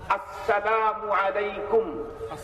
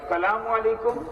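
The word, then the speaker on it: السلام عليكم: আবার বলি, আসসালামু আলাইকুম। শুরুর হামজা যেন স্পষ্ট উচ্চারণ হয়, সালামু আলাইকুম এমন যেন না হয়।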